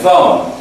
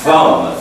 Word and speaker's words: thumb: rage rage rage and thumb it's not t m b Thum it's thumb thumb thumb t sound thumb thumb thumb thumb finger